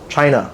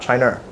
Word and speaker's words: China: It is China, by the way, China, right? Not China. If you want to defend a country, you can start by pronouncing the name correctly.